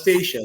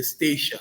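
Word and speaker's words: Statia: to pronounce sometimes but feel free to call us stacia that's what we call it in the name uh in the in the voice of the locals uh we say stacia so feel free to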